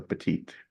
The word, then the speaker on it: Pettit: yes so I I pronounce it the French way so petite yes we have French